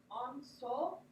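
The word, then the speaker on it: Ensō: It's Enzo. Enzo's pretty sweet. Hand-drawn symbolizes absolute enlightenment. The void. Pretty cool. All right, so here's the animation. If you're looking at proper pronunciation, it's going to be onso.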